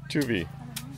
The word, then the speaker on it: Tivua: How do you pronounce the island? Tivua. Tivua Island.